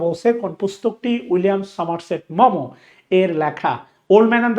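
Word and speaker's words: Maugham: গল্পটা এই William Somerset, এটা মুঘম না, এটার উচ্চারণ হচ্ছে মমো।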